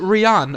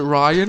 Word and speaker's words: Rian: Is it Rian or is it Ryan? It's Rihanna Johnson. It's spelled R-I-A-N.